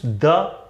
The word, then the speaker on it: the: को बता दूं, जैसे कुछ लोगों को कंफ्यूजन होता है कि द प्रोनाउंसिएशन इसका होगा कि दी प्रोनाउंसिएशन होगा। दोनों सही, आप दोनों में से कोई भी बोलिए, लेकिन अगर आप बहुत ही डीप जाएंगे कि नहीं एग्जैक्ट क्या है, तो द हम लोग का प्रोनाउंसिएशन होता है अगर इसके बाद का जो वर्ड है वो कॉन्सोनेंट साउंड से शुरू होता है तो हम लोग उसको द बोलते हैं।